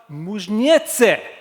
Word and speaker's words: Muižniece: of course to speak so welcome to anita mujnetse yes i pronounced it correctly welcome on stage you